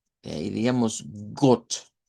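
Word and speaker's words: Gott: De ahí diríamos got. Y esta palabra es bien importante porque es la palabra para decir Dios en alemán. Got.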